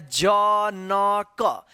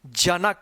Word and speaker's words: जनक: Last में आपको अ का उच्चारण नहीं करना है। किसी भी शब्द के अंत वाले अक्षर में अ का आवाज नहीं आता है बिना मात्रा वाले शब्द में।